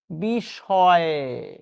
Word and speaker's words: বিষয়: বিষয়, আমরা বিষয় বানানটা লিখছি এটা, কিন্তু বাস্তবে উচ্চারণ কি করছি? তালব্য স, বিষয়।